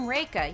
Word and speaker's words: Reika: a little mnemonic like i'm reika you know like rake as in the thing for leaves and i still get